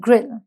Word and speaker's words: grille: इसे ग्रिल बोलते हैं. The spelling is GRILLE. Last में इसमें ई भी होता है. And this is called ग्रिल.